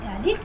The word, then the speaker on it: phthalic: P silent, यहाँ जो P है ये silent है और इसको हम प्रोनाउंस करते हैं phthalic acid। P is the silent, okay?